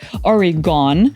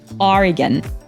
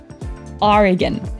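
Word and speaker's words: Oregon: швидко підкоригував Цей недохоп вимова назви штату Орегон часто викликає труднощі через те що йде всупереч загально прийнятим правилам читання багато з тих в кого цей штат не є рідним вимовляють його як origon або origн проте правильною є вимова самих орегонців origon origon і цієї миті усім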